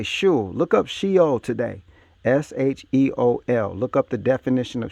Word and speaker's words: Sheol: S-H-E-O-L. Look up the definition of Sheol. It's going to tell you what they did to you in school. Should be pronounced Sheol.